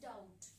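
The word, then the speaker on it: doubt: ऐसे ही अपना वर्ड है डाउट। इसमें बी को हम साइलेंट रखते हैं लेकिन स्पेलिंग में बी लिखा जाता है।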